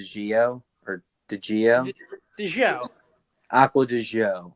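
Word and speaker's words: Acqua di Giò: or the gia show aqua to show is how you pronounce it yeah so it comes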